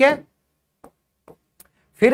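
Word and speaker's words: half: ठीक है? फिर है एल। एल कहां साइलेंट होगा भाई?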